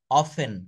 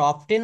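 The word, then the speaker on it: often: উচ্চারণ করে না দেখেন আমরা অফটেন বলবো না অফেন বলব আমরা অলক বলবো না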